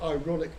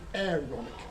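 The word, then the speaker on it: Aaronic: I say it wrong sounds like ironic blessing it's not it's not ironic but aonic blessing as in Aon the person Aeron but it's not it's not it's not aon's blessing at all it's God's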